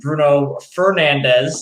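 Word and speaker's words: Bruno Fernandes: the return of uh bruno fernandez is the correct correct pronunciation if i may say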